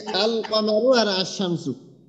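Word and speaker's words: الشمس: হলো কফ তো এই যে আল কমারু আর আশ শামসু তো এই যে তাহলে এখানে আমরা একটা জিনিস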